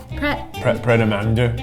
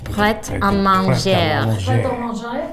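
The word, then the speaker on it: Pret A Manger: Like Predamando. Predamando. Predamango. How do you pronounce any of them? We should Predamando. I think it's French. Pret à manger.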